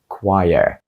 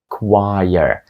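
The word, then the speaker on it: choir: вимовити шосте слово отже правильною вимовою буде quire quire Так це досить несподівана вимова якщо поглянути як слово пишеться і потім почути як воно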